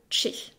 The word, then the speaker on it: ch: bizarre qui s'appelle le Che c'est un C accompagné d'un h qu'il ne faut absolument pas séparer c'est une lettre entière le comme son nom l'indique se prononce comme dans check et c'est tout ce